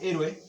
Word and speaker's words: héroe: Bueno, entonces en este caso la palabra héroe se acentúa aquí, en esta sílaba, ¿de acuerdo? Porque es la última, penúltima, es la antepenúltima sílaba, y por eso es que siempre va a llevar un acento, ¿sí?